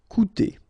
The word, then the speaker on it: coûter: Okay, keep in mind that even if you've got this accent circumflex on the top of U, it doesn't change the pronunciation, so it doesn't change this combination of two vowels here, so it will be OU, okay? Coûter.